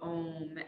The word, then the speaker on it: om: of the breath so think of the sound of ohm as it's spelled which is a u m so making the ah the m is bringing your lips together and then the silent part